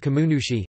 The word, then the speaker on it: kannushi: The Shinto priest is called a kanushi, shenzu lit, master of the kami, originally pronounced kamunushi, sometimes referred to as a shinshoku.